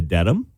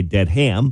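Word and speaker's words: Dedham: actually wrote them down I went to Dam yep is that how you pronounce it it is Flatlanders want to say dead ham but right which I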